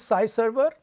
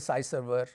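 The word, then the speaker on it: SciServer: to the SPSS data this note is different from Sky server which is spelt sk y sy server is s CI so what is sie server it's a collaborative research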